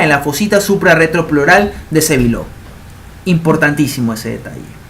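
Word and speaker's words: Sébileau: Se escribe Sévilleau, pero se pronuncia Sévillot porque es francés.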